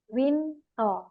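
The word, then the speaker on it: 윈터: Kamita yang bilang ya sebenarnya namanya ini tulisannya beda jadi seperti ini ya robun kalau dilihat dari ininya namanya Winter gitu kan Tapi kalau hanggelnya dia ditulisnya Wito winto karena bahasa Korea itu dia mengikuti pelafalan gitu winor gitu kan jadi winto gitu Oke next turun dulu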